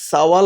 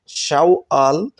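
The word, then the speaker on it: شوال: উচ্চারণ হবে শাওয়াল অনেকেই সাওয়াল বলে থাকেন শাওয়াল এটা হলো শুদ্ধ উচ্চারণ অনেকেই সাওয়াল বলে থাকেন অক্টোবর আরবিতে উচ্চারণ হবে শাওয়াল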